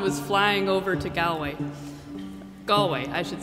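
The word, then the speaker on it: Galway: that that Swan was flying over to gway gallway I should say I get a little confused how to pronounce it so gallway is how you pronounce the Irish place the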